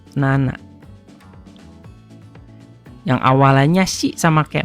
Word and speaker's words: 七: Jadi kalau tujuh apa? Yang pertama si, yang kedua nana.